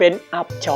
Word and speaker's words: อับเฉา: ว่า หิน นะ ครับ คำ ว่า เอี๊บ คน ไทย ออก เสียง เพี้ยน ว่า อับ ส่วน คำ ว่า ชึง คน ไทย ออก เสียง เพี้ยน เป็น เฉา นะ ครับ ส่วน คำ ว่า เสก ซึ่ง แปล ว่า หิน หาย ไป เพราะ คน ไทย นิยม เรียก แค่ 2 พยาง หน้า พอ คน ไทย ออก เสียง เร็ว ๆ ก็ กลาย เป็น อับ เฉา ไป โดย ปริยาย